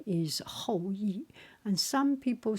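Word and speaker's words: 后羿: His name is Hoi. And some people say his name is E.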